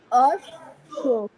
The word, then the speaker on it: অশ্ব: তাহলে সেক্ষেত্রে দ্বিতীয় শব্দটা যদি দ্বিত্ব হয় তাহলে আমার উচ্চারণটা কি হচ্ছে? অশ্ব। তালিমা সুকাশ্য।